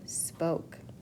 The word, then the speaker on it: spoke: O says its name, so I know I have a silent E at the end.